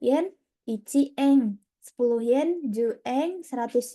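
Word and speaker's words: 円: Kemudian mata uangnya adalah yen. Dalam bahasa Jepang dibaca eng. Eng berarti kalau 1 yen ichi eng, 10 yen ju eng, 100 yen hyaku eng.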